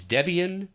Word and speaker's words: Debian: drill it into my own memory the correct pronunciation is Debian and open SUSE so if you have any